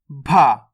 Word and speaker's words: भ: बा से बकरी, भा। इसका उच्चारण कैसे करेंगे? भा। जैसे भालू, भारत। देखो इसका उच्चारण सिंपल हुआ, बा, और इसका कैसे करेंगे? जोर लगा के, भा।